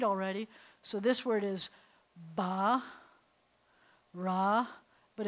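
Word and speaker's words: ברא: So this word is ba, ra, but if I were reading it as a whole word, I would say ba-ra, with the accents on the second syllable.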